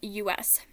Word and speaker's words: Janus: Nope, it's spelled Janus. Janice, like Remus, but Janice. Like Jan-us, not Janice. Like, kind of like that.